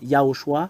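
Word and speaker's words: יהושע: nom euh il n'est pas comme les autres yahoshua c'est ça le nom qu'on prononce ici c'est lui qui vous a sauvé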